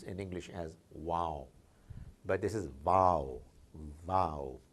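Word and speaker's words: واو: I would suggest that it's actually V-A-A-W, Wow. If I put a wow here, which I read somewhere, I would be more tempted to pronounce in English as wow.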